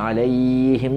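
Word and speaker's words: عليهم: ഇവിടെ ആയിന് ശ്രദ്ധിക്കണം, പിന്നെ അലൈഹിം എന്ന് കണ്ടു പോവാതിരിക്കാൻ ശ്രദ്ധിക്കണം, പിന്നെ ഹാഇൻ്റെ ഉച്ചാരണം അലൈഹിം ഹാഇൻ്റെ ഉച്ചാരണം ശ്രദ്ധിക്കണം, മീമിൽ വരുന്ന ഉച്ചാരണവും ശ്രദ്ധിക്കണം.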